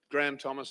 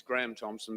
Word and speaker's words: Graham Thompson: the world so um Graham Thomas will do for today it's Graham Thompson but that doesn't matter uh look I've had many